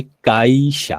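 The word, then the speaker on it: 会社: ঠিক আছে, এখন দেখুন আমি যদি এই শব্দটা যদি উচ্চারণ করি কাইশিয়া, তাহলে কি উচ্চারণটা কি সঠিক হচ্ছে?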